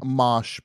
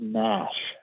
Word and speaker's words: mosh: Mosh pits. Spell it? MOSH. Oh, I thought it was mash. It's not mash, it's mosh.